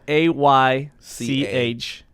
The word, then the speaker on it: Aych: George Palaio here today with Ellis Aych. Did I say it right? Yeah, you said it right. H. I love that. And by the way, it's spelled A-Y-C-H.